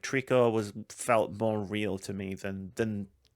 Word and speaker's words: Trico: dub was in Japanese, but Trico is the pronunciation.